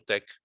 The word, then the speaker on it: TeX: Um, e ele pronuncia-se tech, portanto é a forma como o autor acha que deve ser pronunciado.